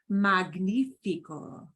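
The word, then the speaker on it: magnífico: Oh, if we've got G and a consonant, like the word for magnificent, we get this pronunciation. Magnifico.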